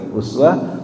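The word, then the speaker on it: أسوة: Tapi kadang ada juga tuh orang yang bacanya iswah. Nah ini. Kata laqad kana lakum fi rasulillahi uswatun hasanah. Tapi kadang juga ada yang dibilang iswatun hasanah. Itu beda qiraat. Jadi boleh dibaca uswah, boleh dibaca iswah.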